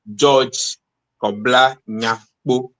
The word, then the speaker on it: George Korbla Nyakpo: George, could you say your name the way you pronounce it, sir, your full name? Yeah, so my name is George Korbla Nyakpo. Korbla Nyakpo.